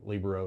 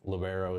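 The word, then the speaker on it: libero: And then you had Olivia Spencer who was our uh Libro or Lobero as they want me to call it, but it's Libro if you say it correctly.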